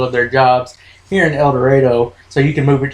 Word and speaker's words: El Dorado: from he's from El Dorado and again it's pronounced El Dorado I know it's about El Dorado yeah but that's how we say it you're